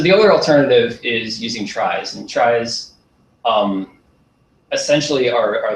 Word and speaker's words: trie: And I pronounce it tries just because it's confusing with trees, so you can pronounce it however you want.